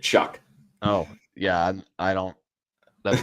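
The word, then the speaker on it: Shough: Yeah, it's actually how you say it, Shuck.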